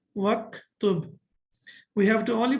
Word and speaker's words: واكتب: Okay, now we know that the Hamza of uktub is Hamzatul Wasl, and when we connect it, we don't pronounce it. We don't read it. So that's why we say waktub.